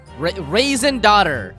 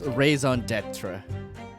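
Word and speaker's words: raison d'être: help me uh that's your daughter raisin daughter oh my god pronunciation i've been told that it's raison d'etre dieter raisin also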